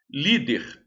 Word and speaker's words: líder: Líder, a sílaba tônica é li. Então, olha lá. Der é, né? Olha lá. Li, der. Der é a última.